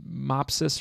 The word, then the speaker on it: Mopsus: Whether it was supposed to be Mopsus or Mopsus, I'm not sure. Okay, I actually looked this up while recording, and as she says, it's based on some Greek mythology, so the pronunciation is actually Mopsu.